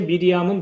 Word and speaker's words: 미리암: 요거 읽으면 마리아라는 발음이 아니고요. 미리암입니다. 그러니까 마리아라는 이름의 원래 이름이 미리암이에요. 성경에 나오는 첫 번째 미리암은 누구죠?